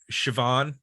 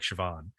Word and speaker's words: Siobhan: I think um what's Siobhan yeah I always have a hard time pronouncing that name because it doesn't look like Siobhan um but I really